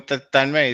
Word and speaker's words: Tanmay: How do you pronounce it? Oh, it's a long one. I mean, Tanmay is fine.